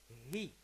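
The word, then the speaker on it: היא: The other one is the personal pronoun he, and he in Hebrew means she or she is, and it's written he yod aleph, but it is pronounced he.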